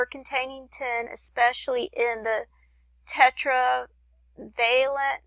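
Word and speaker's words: tetravalent: 10 especially in the Tetra veent I'm not sure how you pronounce that word I guess let me see yeah it's Tetra veent I'm sorry I mispronounced that earlier so it has a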